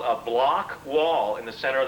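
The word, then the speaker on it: Bloch: The block wall, which is spelled B-L-O-C-H, is this null zone, like the doldrums of the equator.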